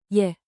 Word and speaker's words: je: Say it like a quick, soft, yay. Je. With rising intonation, think 2 ascending notes.